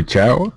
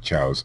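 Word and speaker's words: Chiao: Leroy Chow, I believe that's how it's pronounced.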